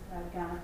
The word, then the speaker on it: Kaurna: And we say the word Kaurna, but what's often really confusing to some of my international students is that it's this word that's spelt with a K. So we say Kaurna, but this is how you spell it, K-A-U-R-N-A.